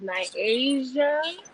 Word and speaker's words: Nyasia: from upstate new york you pronounce it as my asia you tell me it